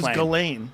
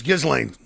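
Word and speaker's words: Ghislaine: I thought it was Galain. I thought it was It might be Galain. It's Gizlane. Do you know? Oh, look at me. No, I Galain. It's Gizlane.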